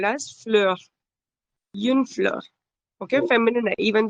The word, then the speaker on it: fleur: Fleur. Similarly, fleur. R, Fleur. very slight sound of R.